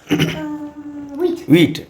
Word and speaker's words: huit: और next वीट, okay, WEET, spelling है HUIT French में, इंग्लिश में उच्चारण होगा वीट।